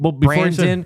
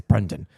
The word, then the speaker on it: Brendan: It's like, are you going to get Brandon? Before he says the name. And he's like, it's Brendan. What? He's like, it's Brendan.